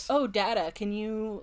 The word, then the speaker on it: Data: he's like oh my my name is pronounced data and she's like oh what's the difference and then he says what is my name the other is not and then she does